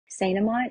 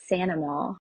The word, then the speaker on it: St. Amant: And if you really want to go like super Cajun correct pronunciation, Saint Amant is actually Sanama, which Sanama.